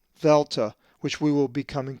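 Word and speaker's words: δέλτα: The dheltah is always pronounced as the as in that, not D as in dog, but the soft the.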